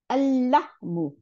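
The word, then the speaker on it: اللحم: এই লামটা গিয়ে পরের লামটার সাথে মিলে গেল, তাহলে দুইটা লাম বানাই দিল, তাহলে আল্লাহমু, আল্লাহমু, মাংসটি, তাই না?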